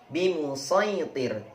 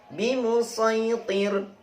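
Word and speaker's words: بمصيطر: Berikutnya adalah bimusaitir, masih dibaca dengan shad, ditulis dengan shad, jadi teruslah membacanya dengan shad: bimusaitir, bimusaitir, bimusaitir.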